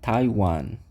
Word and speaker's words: Taiwan: temos ali um país chamado Taiwan que a pronúncia é quase a mesma também Taiwan Taiwan é só prestar atenção no t não